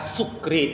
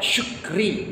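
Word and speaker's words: شكري: Sukri itu maknanya mabuk. Jadi kalau bagus pengucapannya syukri, artinya bersyukur.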